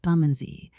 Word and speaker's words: Bermondsey: now off post haste to his home in buray pronounced bumy to get dinner and tea together a hot